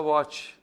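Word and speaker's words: watch: check okay इसके अलावा वच डब्लू ए टी सी एच अब इसमें टी साइलेंट है वच ही बोलेगा ये च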